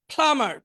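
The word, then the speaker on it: plumber: প্লামার পানির মিস্ত্রি, এখানে বিটা উচ্চারণ হবে না, প্লামার পানির মিস্ত্রি।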